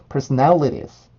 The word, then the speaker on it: personalities: 100의 공기를 갖고 있었다면 음절의 끝에 오는 S 발음은 10 정도의 힘을 내주시면 돼요. 그래서 personalities, personalities, personalities, personalities, personalities, personalities.